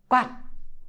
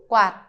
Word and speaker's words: quạt: Okay, please don't try to be quạt. No, it's just quạt. Basically, shape the T, but don't pronounce it.